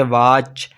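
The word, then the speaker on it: watch: आपने याद रखना है अगर टी के बास सी होगा तो टी अपनी आवाज खो देगा जैसे मसलन देखते हैं जी जैसे वाच स्नैच और कैच यह तो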